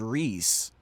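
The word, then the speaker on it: Rhys: So I only heard that being said as Reese. And then and then obviously the other pronunciation is Rise with the H and the Y in there. So that's how I've only ever heard of it.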